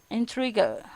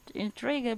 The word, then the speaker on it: intrigue: Ada intrigue, intriguer, like that. Intrigue, intrigue, intrigue. intriguer, like intriguer, but it's not pronounced as intriguer, but it's intrigue, intrigue, the at the back.